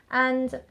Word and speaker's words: ånd: start his own brand, which is called And, but it's spelt with a small a and a little circle above the A. That's how you can tell that we're talking about And, the brand, and not the word and, which try Googling And perfumes or And fragrances.